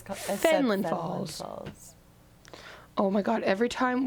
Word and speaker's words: Fenelon Falls: And I was like, because that's literally how it's spelled. Finland? Yeah, and she was like, it's Fenelon Falls.